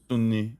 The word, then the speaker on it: Sunni: Muslims okay yeah gotcha I liked how you said that what Sunni Sunni yeah yeah that's how you say it so how do